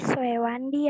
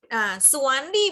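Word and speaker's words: Soewandi: Makan Swewandi ya, Bu? Iya. Jadi gini, Suwandi bacanya ya, walaupun tulisannya Owe.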